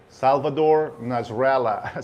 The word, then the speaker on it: Salvador Nasralla: And guys, if I pronounce the name in Spanish the way that it's supposed to be, I'm not trying to fake an accent. This is the way I know that the name is being pronounced, and it should be pronounced.